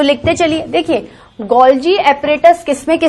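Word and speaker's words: Golgi: गोल्जी को आप गोल्गी भी बोल सकते हो, बट it mainly pronounced गोल्जी।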